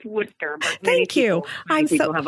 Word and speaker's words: Worcester: of the Holy Cross in Worchester Massachusetts did I pronounce that right Lisa oh no it's Worcester thank you I still